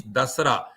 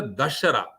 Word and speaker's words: Dasara: Actually, Dasara has got two way of pronouncing the Dasara. One is Dasara. Das means 10. Ra means Ratri. Like how 9 Ratri, Navaratri, Das Ratri is Dasaratri. Dasara. Dasratri become Dasara. But there is also another word or pronounced as a Dashara, which means derived from Dasha and Hara.